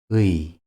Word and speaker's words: 의: 의. You should pronounce the U and E in a low very quickly.